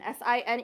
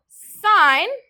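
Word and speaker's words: sine: sign s i n e on your calculators. You will see it abbreviated to s i n. We do not pronounce that sin. That is sign.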